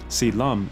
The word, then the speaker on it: Si Lum: Si Lum is the Cantonese pronunciation of Shaolin.